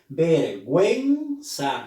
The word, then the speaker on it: vergüenza: Vergüenza, la U se ha pronunciado. Es necesario que le pongamos una diéresis.